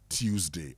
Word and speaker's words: Tuesday: Now, Tues. Okay, it's not z. Tuesday. So if you want to say it right, it is Tuesday.